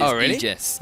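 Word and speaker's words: Aegis: agus no no we we googled this it is egis yes it is okay a e is pronounced e today I learned so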